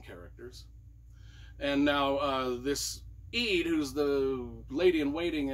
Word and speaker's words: Ead: main characters is Eid I pronounced it Eid it's e-a-d now she lives kind